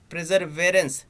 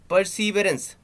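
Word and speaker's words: Perseverance: Next है NASA's rover प्रिजर्वेरेंस, हाँ क्या है, परसीवरेंस, नॉट प्रिजर्वेरेंस, क्या है, परसीवरेंस, याद रखिएगा, थोड़ा डिफिकल्ट प्रोनाउंसिएशन है तो आराम से पढ़िएगा।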